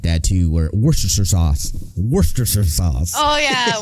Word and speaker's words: Worcestershire: I've heard it pronounced the way that we would read it, Worcestershire or whatever. It's supposedly just Worcestershire.